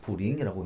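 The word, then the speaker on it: 茯苓: 자, 후라고 읽고 령을 중국말로 링이라고 읽습니다. 그래서 후링이라고 읽습니다.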